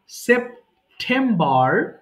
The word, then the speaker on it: September: দেখো আবার বলছি, সেপ্টেম, ঠ, এখানে আমি অব্র দিয়ে লিখছি বলে টটা আসছে, ঠটা আসছে না, কিন্তু এটা ঠ উচ্চারণ করবা, হ্যাঁ, দেখো, সেপ্টেম্বর, সেপ্টেম্বর, সেপ্টেম্বর, এরপরে ও,